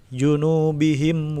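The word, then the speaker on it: جُنُوبِهِمْ: adalah hidup harus syafawi Gimana cara bacanya dibaca jelas minimnya junubihim wa seperti itu tidak ditahan junubihim tidak seperti itu selanjutnya makhalqta makhalqta Haga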